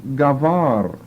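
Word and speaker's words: גבר: want to translate it g long a v short a r gavar it comes from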